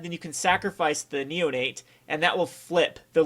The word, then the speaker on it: Insolent Neonate: And the combination I really want to do for this particular deck is going to be the Insolent Neonaut, or Neonate.